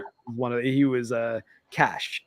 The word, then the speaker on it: Cach: He is CACH, which I Okay. can't help but kind of want to pronounce as CAC. Yeah, because there's no E at the end. Yeah, but it's pretty sure it's Cash though, is how we say it.